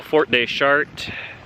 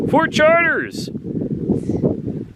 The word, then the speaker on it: Fort de Chartres: We're at the historical Fort de Chartres site, or as other people would pronounce it, Fort Chartres! It's Fort de Chartres, it's French.